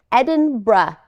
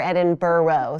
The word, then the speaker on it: Edinburgh: and if you're confused it is Edinburgh it's a little bit soft on the end but if it feels funny to you you can rely reliably say edin BR so if you need to be like an American about it that's how you say the word edin br edin br way better than Edinburg or edin burrow so whatever you do